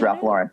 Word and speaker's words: Ralph Lauren: we know it's ralph lauren okay it is ralph lauren yeah and that's the way you know that's the way he pronounces it um and you know it's just